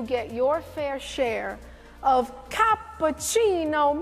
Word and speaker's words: cappuccino: your fair share of cappucino moments now I admit it helps to be Italian to say it like that everybody ready together capucino exactly and from this